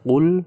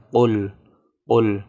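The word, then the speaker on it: قُل: Kemudian, ketika melafalkan "qul", perlu juga dipastikan bahwa pengucapan vokalnya tidak terdistorsi. Di mana "qul" asli dibaca sebagai "qol qol" . Di mana bunyi "u" asli dibaca sebagai "o". Hal semacam itu dianggap sebagai kesalahan.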